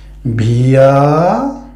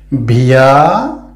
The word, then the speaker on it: wir: আমরা, wir, ভিয়া, এই যে ডাব্লিউ এটা আমরা উচ্চারণ করছি বে, তো বে ই এর, ভিয়া ভিয়া ভিয়া।